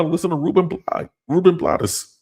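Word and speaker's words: Rubén Blades: I moved to Panama to listen to Ruben BL Ruben Blottis. Oh, that's how they say it.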